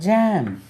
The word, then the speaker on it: jaw: JAW ஏற்கனவே தெரிஞ்சாலும் ஜான்னு நம்ம உச்சரிப்போம் தெரியாமல். தாடை. ஜோ எப்படி உச்சரிங்க? ஜோ ஜோ.